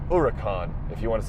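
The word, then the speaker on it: Huracán: Yes, it's pronounced Huracan, not hurricane or hurricane. It's pronounced Huracan, if you want to say it correctly.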